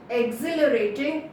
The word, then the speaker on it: exhilarating: same today's word is exhilarating yesterday exhilarating okay here H is silent eggsy exhilarating itself objective yes it's